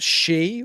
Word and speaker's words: Xu: never have known that the Chinese name XU is pronounced she with two E's. So I guess it's a long she.